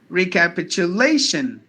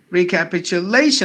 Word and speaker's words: recapitulation: other syllables it should be pronounced as recapitulation recapitulation I say recapitulation lay should be given more volume so that's a word